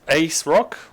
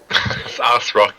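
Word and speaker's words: ASRock: Even the Ace Rock, Ass Rock. Ass Rock is the correct pronunciation.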